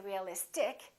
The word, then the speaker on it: realistic: see in this case we don't stress the suffix but we stress the syllable immediately before the suffix realistic we don't say realistic we don't say realistic we say realistic electric electricity electric strategic we say strategy or strategic optimistic terrific Pacific remember the syllable before the IC gets stressed these are some important